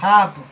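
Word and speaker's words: half: हाफ।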